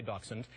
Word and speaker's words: dachshund: will say Dawson there's all kind of different pronunciations dash-mounted you'll hear but all I'm going to say dachshund doc means badger in German Huntington means dog